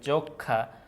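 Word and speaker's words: যক্ষ্মা: জায়গায় শেষে ইয়ে হবে যক্ষা যোক্ষা ঠিক আছে যক্ষা সো যক্ষা এই জায়গায় যে ব্যাপারটা হচ্ছে ম এর কোন উচ্চারণই আসতেছে না ম এর কোন উচ্চারণ কিন্তু হচ্ছে না তার মানে তুমি জানো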